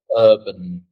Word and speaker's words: urban: And where is the stress? The first syllable, I think. Exactly, exactly. It's urban.